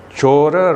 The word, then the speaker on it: cora: Notice the word Chora is still found in the Indian language today. Only thing is they pronounce as Chor today. Chor means robber. They drop off the last vowel by process of apocope.